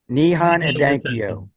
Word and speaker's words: Nihon Hidankyo: And you were on Amy Goodman because the Japanese organization, and you're going to have to help me with the pronunciation. Nihon Hidankyo. Nihon Hidankyo.